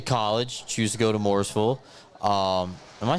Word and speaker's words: Morrisville: you get to College choose to go to morisville um am I saying that right morisville Morrisville yeah okay all right I've always wondered about